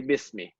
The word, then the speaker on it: bismi: So here, instead of saying bi ismi, the hamza is dropped. We say bismi, right?